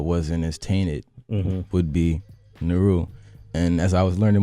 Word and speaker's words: Nehru: it's it n Naru how do you say it correctly man um Naru Naru yeah like the uh Pakistanian uh the Indian Prime Minister the Indian prime minister